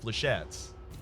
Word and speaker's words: flechette: the opening hand worse is it actually pronounced flechettes I wasn't trying to troll people with that one ie I was pretty sure it was pronounced flechette sorry flechette silent s now like bleh who's